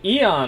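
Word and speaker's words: Aeon: yeah yeah okay yeah you followed me the Eon Arcana so that's how you pronounce it I love that as soon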